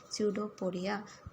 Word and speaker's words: pseudopodia: Underline करना है, PSEUDOPODIA, स्यूडोपोडिया, P silent है।